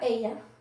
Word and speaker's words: ella: Ella. When it's double L, you say E.